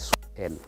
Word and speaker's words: Swahili: So for it, they used to pronounce it Swahel, not Swahili.